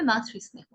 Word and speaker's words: মাতৃস্নেহ: হ্যাঁ, জোর না দিয়ে উচ্চারণ করতে হবে মাতৃস্নেহ, মাতৃস্নেহ। আবার বলি, অমৃত, প্রকৃতি, আবৃত্তি, ছায়াবৃতা, অনাদৃতা, নিষিত, পৈতৃক, বিষবৃক্ষ, মাতৃস্নেহ। তাহলে আমরা কি দেখলাম? রিকারের ক্ষেত্রে আমরা কোনোভাবেই দ্বিত্ব করতে পারবো না।